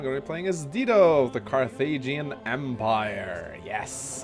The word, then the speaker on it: Dido: I know it's pronounced Dido, but I've always called her Dido.